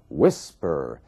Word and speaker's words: whisper: temos um outro caso Whisper você vê que a força da palavra sílaba tônica está na primeira parte Whisper então quando você tiver